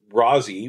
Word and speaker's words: Rosie: you could get and Rousy which is how her friends would pronounce it grew up in Forest